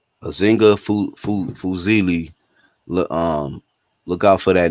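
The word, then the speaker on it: Azinga Fuzile: Azinga Fuzili. Fuzili.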